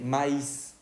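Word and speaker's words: maïs: tiene dos puntos Ok entonces ahí sí vamos a pronunciar la i Ok acá no se pronuncia si decimos me no escuchamos ni la y ni la s verdad en la otra se dice maíz y ahí es el maíz que nosotros conocemos Ok acá es me y acá ya lleva dos puntitos sobre la y se pronuncia maíz Ok cuando va a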